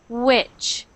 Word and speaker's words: which: wish that is pronounced which which wish wish which wish not wish but which I I sound which